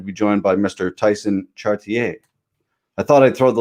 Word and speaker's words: Chartier: you say my last name? Chartier or Chartier. Yeah, we say Chartier here in the States, but Chartier, yeah. I always hear different versions like Chartier, Charty. So yeah, I'm always interested to see how they say it up in Canada.